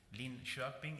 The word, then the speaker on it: Linköping: Linköping is the pronunciation.